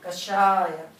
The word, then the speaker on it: Kashaya: E para a galera que quer ser mais purista, esse Kashaya se escreve assim. K-A-S-H-A com tracinho em cima, que é A-Y-A. Kashaya.